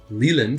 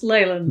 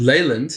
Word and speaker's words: Leyland: So I'm here today in Leland. Is it pronounced Leland? It's Leyland. Leyland in the UK with Dame Sue Ion.